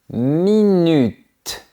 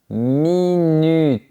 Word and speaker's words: minute: Une minute. On garde la langue contre les dents. Une minute.